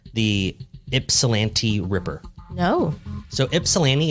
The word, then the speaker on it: Ypsilanti: pronouncing this wrong the ipsilanti Ripper no no so ipsilanti is a city in Michigan I believe yes Eastern Michigan and it's spelled uh y-p-s-i-l-a-n-t-i so Ypsilanti okay don't know anyway